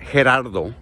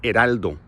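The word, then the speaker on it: Geraldo: My name is not Gerardo, it's Heraldo. The H is silent and the L is pronounced.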